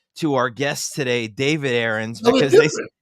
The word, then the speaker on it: Arends: our guest today David erens because they they spell the name differently although it is pronounced the same way good morning Jason Bo